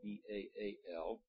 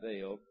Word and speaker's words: Baal: We used to call it Baal when you and I were growing up, the old god Baal. Now scholars say that wasn't right. It really has two syllables, so it's Baal.